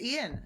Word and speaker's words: Ean: It's like too straightforward, right? They just say it how it is. It's Ian.